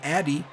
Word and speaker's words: Ife Addy: one here to Ife Addy, or AD. I believe that's how I finally looked up how that's pronounced, and it's AD. Kind of like you're just saying AD, but either way, he's had a great season for us.